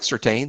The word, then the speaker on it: Surtain: in high school, but it's Surtain. That's how, if it's important, that's how Patrick and his father pronounce it. I suppose we should too. But I've been saying Surtain. It looks like Surtain.